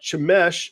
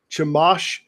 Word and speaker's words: Chemosh: Now, this was to the god Chemesh, or how do you say it? Chemosh, I think is how you say it, which was the patron god of the Canaanite people of Moab specifically.